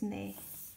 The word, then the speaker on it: 네: But 네 is right, but when we saying in the sentences we saying we do not pronounce it 시옷. So this is 네.